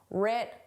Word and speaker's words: writ: The W is silent. But in spelling it's there. In pronunciation it isn't. Rit large.